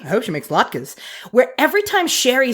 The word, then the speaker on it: latkes: Yeah, also, he pronounces latkes correctly. He says it like a normal human being. I hope she makes latkes.